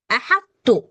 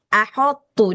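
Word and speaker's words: أحطت: Ha tipis, tho tebal, ta tipis. Nah, permasalahannya si ha ini jangan sampai akottu. Nah, nanti ini bisa ada beberapa ini yang bacanya ahottu dia terikut berat dia. Nah, jadi pastikan si ha-nya ini tetap tipis. Th harus tebal kemudian ta juga tetap tipis gitu.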